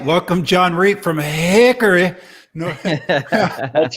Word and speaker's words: Hickory: welcome john reed from hickory that's right you guys you got something like this whatever for whatever reason we don't pronounce the o in hickory it's just haircut and then the little